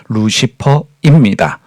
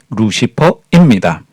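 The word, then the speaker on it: Lucifer: 해례를 라틴어 루치페로로 번역했습니다 루치페르의 영어 발음이 바로 우리가 사용하고 있는 루시퍼입니다 다시 한번 말씀드리면 라틴어 루치페로의 영어식 발음이 루시퍼입니다 히브리어 헬에는 사탄이나 타락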